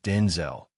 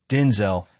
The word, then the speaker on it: Denzel: The emphasis is not syllable of his name and not the second with the last part rhyming with pole or lull.